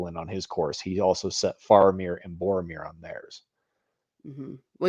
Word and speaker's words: Faramir: except very briefly with Faramir, who knows? Everyone pronounces them differently, but I use the movie pronunciation, Faramir.